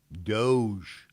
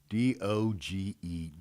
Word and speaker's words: DOGE: started reporting on it, it was mispronounced. They should have pronounced it dog-E.